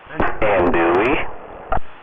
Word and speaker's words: andouille: Andouille?